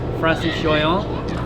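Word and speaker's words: Francis Joyon: which is a 97 foot foiling traran that Francis Joon am I pronouncing that correctly yeah correct Francis Joon won a Jules ver in uh in a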